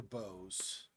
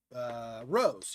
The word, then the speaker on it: Rose: Bose. Rose. Yeah, it rhymes with Dr. Bose.